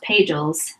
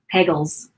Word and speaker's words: Pagels: started reading I think her last name is pronounced pay Jules although Pagels works too but Elaine Pagels books